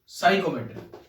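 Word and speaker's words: psychrometry: ठीक है, chapter number 7 साइकोमेट्री। ये लिखा जाता है पी साइकोमेट्री। ठीक है, और पढ़ा जाता है साइकोमेट्री। पी क्यों लिखते हैं ये मुझे भी नहीं पता है। ठीक है, जब साइलेंट ही है तो लिखना क्यों है,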